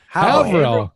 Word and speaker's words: Haverhill: He lives in, I'm not going to pronounce it, Scott. Is it Haverhill? Haverhill.